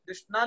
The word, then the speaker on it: कृष्ण: की भाषा में आती है, पर बोला हरे कृष्ण, अच्छा कृष्ण हो जाता है, पर हरे कृष्णा हम बोल देते हैं।